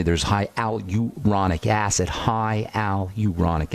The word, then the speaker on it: hyaluronic: High Al uronic acid High Al uronic acid is how you say that in the skin and